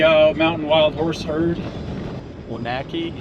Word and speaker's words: Onaqui: Onaki. It's how you said. Onaki. I've only figured out how to say it based off the spelling.